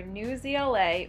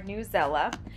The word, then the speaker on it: Newsela: on who you ask this resource is either new zla or newsela but regardless of how you pronounce it this resource is really